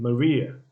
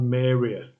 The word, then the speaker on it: Maria: it's not peers repairs again maria not meria it's not mary ah maria canada not canada canada